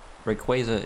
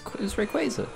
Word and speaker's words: Rayquaza: A fun fact: Rayquaza is one of 2 Pokemon that learn Fly by level up.